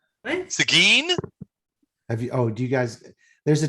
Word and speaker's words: Seguin: And by the way, for those of us from Texas, we pronounce that Seguin. what? Seguin, Do you guys, there's a town in Texas called Seguin.